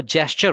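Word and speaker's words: gesture: अह मैं गेस्चर बोला था वह जेस्चर होता है प्रोनाउंसिएशन उसका जेस्चर जी ई एस टी यू आर ई है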